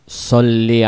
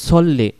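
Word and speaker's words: صَلِّ: বলবো আল্লাহুম্মা সাল্লি আলা সাল্লি আলা পড়লে হবে না বলতে হবে সল্লি কারণ সদ জবর স যদি যদি আমরা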